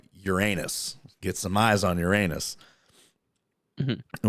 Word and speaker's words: Uranus: Get some eyes on Uranus. Mm-hmm. Which is actually pronounced Uranus. But anyway, so Neptune is one of those planets where we It's a never different hole.